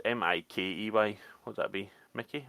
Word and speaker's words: Mikey: Is it Mickey or Mikey? I don't know. It's Mikey.